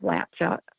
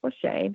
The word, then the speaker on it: Latscha: L 80s pH a it looks like lat Chuck and everybody is surprised and I say it's pronounced lashade or like it is